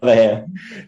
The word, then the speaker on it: Kaleiwahea: say your last name because I will never pronounce it. Kaleiwahea.